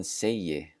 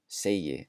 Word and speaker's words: segi: The G is also pronounced just like a J.